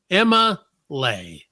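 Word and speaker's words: Emma'Leigh: Now you spell it E-M-M-A apostrophe L-E-I-G-H. Emma Lay.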